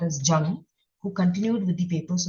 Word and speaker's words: Jung: The pronunciation is Jung.